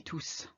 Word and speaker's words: tous: It can be tout, it can be tous. If you say tous les jours, the S is silent, because tous is followed by a noun, all the days, if you like, tous les jours. But if you say ils sont tous là, they are all here, it's a hard S